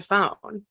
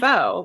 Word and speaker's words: pho: If you pronounce it incorrectly, it's 90210 pho, but if you pronounce it right, it's 90210 pho, which delighted me to no end.